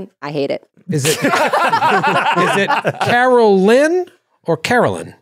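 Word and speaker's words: Caralyn: Is it Carolyn or Carolyn? Carolyn, like, but it's spelt not like Caroline. It's C-A-R-A, Carolyn. So I want to make sure I really hit that second A.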